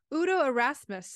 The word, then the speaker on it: Udo Erasmus: I'm really excited to introduce today's guest so Udo arasmus I pronounce that correctly yep yep so R Udo